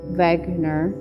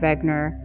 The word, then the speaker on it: Wegener: a man named alfred wegener and he was german so the w is pronounced like a v he actually was the